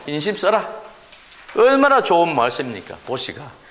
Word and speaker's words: 보시: 풀어서 나눠줘라 이게 포시에 포시 그래 된발음 시인데 발음으로 보시다이 말입니다 그래서 스님들이 가서 법문을 하실 때 보시